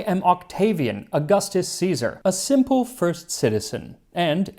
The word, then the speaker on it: Caesar: 1st century BC Rome, which would be with a hard C. So instead of Caesar, he pronounces it Augustus Caesar.